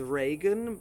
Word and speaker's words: Reagan: There are also a few names where the EA is an A sound, such as Reagan, so Ronald Reagan, or such as Seamus, or the famous poet Yeats.